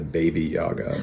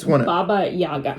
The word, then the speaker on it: Baba Yaga: to call it the baby Yaga well I think we want to say like baby Yoda but Baba Yaga we just want to say anything but the real pronunciation okay yeah this thing